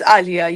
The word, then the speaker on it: Aliya: Is it Aliyah or Allayia? No, it's Aliyah.